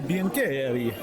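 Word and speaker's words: Biancheri: Nathalie Biancherri. She's very impressed that I pronounced her name correctly.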